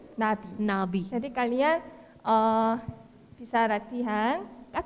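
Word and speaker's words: 나비: Okay, jadi kalau ini bacanya Nabi.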